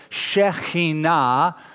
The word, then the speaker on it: Shekinah: They called this the Shekinah, that's how most of us pronounce it. Shekinah is the correct pronunciation.